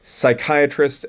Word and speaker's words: psychiatrist: knuckle type of noise PS sounds like an s p t sounds like a t so psychiatrist and ptosis otherwise you can also